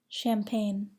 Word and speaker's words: champagne: Do not pronounce the G in the following words: align, assign, benign, campaign, champagne, cologne, design, feign, foreign, gnarl, gnash, gnat, gnaw, gnome, rain, resign, sign.